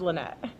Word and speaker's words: Lenet: I was like, it can be Lena. Listen, if it's just easier, it could be whatever you need it to be. But it's officially pronounced Lynette.